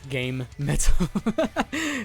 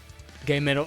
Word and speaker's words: GaMetal: how to pronounce stuff it's game Metal exactly git toll that's that's one way Matt it's pretty cool gito or gay mdle is the best pronunciation kabito kabito of the